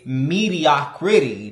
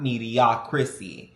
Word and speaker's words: mediocrity: And guys, I got the word correct this time, no shade, because I realized I was saying it wrong. It's mediocrity, not mediocrity.